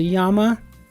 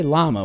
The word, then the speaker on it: llama: the end of Ramadan animal whose name is pronounced with a Y Sound by many Spanish speakers I'm just going to consider this a Yama um when we were kids shoty we were taught to say llama weren't we LL that's